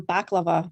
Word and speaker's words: balaclava: We have them, but we pronounce them baklava, like the dessert.